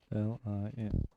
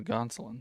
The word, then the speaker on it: Gonsoulin: However you pronounce his last name. Don't have him. Gonsoulin. Oh, Gonsolin.